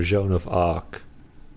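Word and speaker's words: Jeanne d'Arc: we're not sure so Joan of Arc has English people say but Jean d'Arc is the correct quotation mark of Asian market spelling no pronunciation Jean d'Arc maybe not 100% but I know it's Jean not alone oh hi my name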